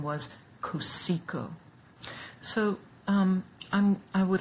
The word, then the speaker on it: Cotsiogo: artist whose name looks like it would be pronounced katsuyogo but in fact the way he pronounced his name was kusiko so um i would like now to pause